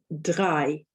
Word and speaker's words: drei: One way of trying to remember that EI is pronounced I is the first 3 numbers in German, 1, 2, 3, are all spelt EI because that's how they're pronounced.